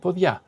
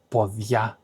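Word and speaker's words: ποδιά: Another thing, podia and podia. Podia are the feet. and pod ya is the apron.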